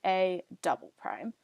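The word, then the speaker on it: A″: But sometimes, if you translate something twice or reflect something twice, you have A with 2 apostrophes, and that's pronounced as saying A double prime.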